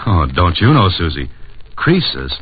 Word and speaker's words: Croesus: Croesus, not Croesus, was a rich king.